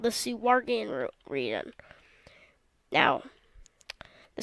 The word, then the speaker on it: Suwarga: And then you go over, and at the end, you can hear about a region called the Suwargan region. Now, the Suwargia is, basically, or it's actually pronounced Suwarga, but the Suwarga is a little biome is full of bananas in Suwarga.